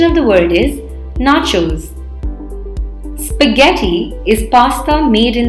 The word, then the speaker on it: nachos: often incorrectly pronounced as naturals please remember the N a here is pronounced as na and not nay making it sound like nachos so the correct pronunciation of the word is nachos spaghetti is pasta made